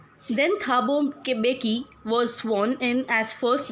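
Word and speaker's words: Mbeki: Then Thabo बेकी was sworn in as first deputy president. 2 deputy presidents allot किए गए थे. First deputy president बने थे थाबो बेकी. M here is silent.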